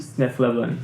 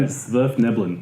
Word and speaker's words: Svirfneblin: Duergar Duergar, drow, and Svirfneblin. Snefleblin. Man, I always get caught out trying to pronounce that word. Svirfneblin, also known as deep gnomes.